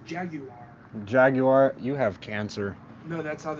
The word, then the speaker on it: Jaguar: Jaguar. That's wrong. It's pronounced Jaguar.